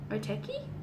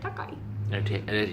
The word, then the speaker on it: Otaki: Otaki? You said Otakai. You pronounce it Otaki.